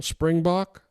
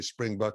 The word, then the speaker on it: Springbok: that African uh animal Springbok springbuk springb springb well the is the way they pronounce it we would say spring buck in America okay okay so that's